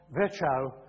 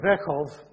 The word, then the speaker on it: Virchow: cells the Prussian pathologist Rudolf virchow sorry verkhovah has been trying to educate me and how to pronounce it and I apologize to Torsten for getting it completely wrong the first time but rudolferkov uh pointed